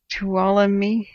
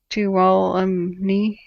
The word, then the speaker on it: Tuolumne: Say it like Cindy. Tuolumne, like Cindy. Tuolumne.